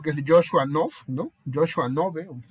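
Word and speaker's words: Knobe: Joshua Nove, así se pronuncia, me parece, que es el que hizo este tema de la filosofía experimental, ¿no?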